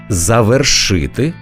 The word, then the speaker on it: завершити: значенням розберімось із наголосами важливо запам'ятати правильно казати завершити завершив завершимо Давай без сліз завершимо